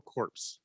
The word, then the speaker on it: corps: do have a military do you pronounce the p in cores because marine corps yeah sometimes i don't think you do really i do i'm italian i do whatever well i think that's